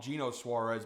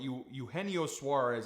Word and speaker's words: Eugenio Suarez: I know usually most people call him Gino Suarez, but Eugenio Suarez, I believe, is the proper pronunciation here.